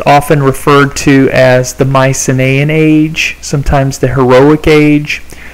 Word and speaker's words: Mycenaean: Now, the Mycenaeans, and you can see there are quite a few vowels up there in that name, so I'll let you write that down. Mycenaean is how you pronounce that.